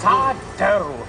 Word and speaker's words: sourdough: That's sourdough. No mister. Accent on the dough.